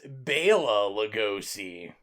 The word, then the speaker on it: Bela Lugosi: As someone that watched 8 million featurettes, there was an argument that it's Bela Lugosi.